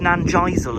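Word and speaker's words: Nanjizal: I've heard it pronounced Nanisle as well, but I think most people say Nanizzle. I believe it's Nanizzle.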